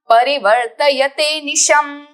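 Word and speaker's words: परिवर्तयतेऽनिशम्: च केशव आत्मयोगेन भगवान परिवर्तयते निशम, परिवर्तयते निशम। ये जो अ आकार है अवग्रह, उसका उच्चारण हमें ड नहीं करना है, वो एक्चुअली अ है जो हमें स्किप करके निशम बोलना है।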